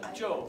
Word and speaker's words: Job: It's not Job. How do you say it? Job, right? It's Job, not Job. It looks like Job.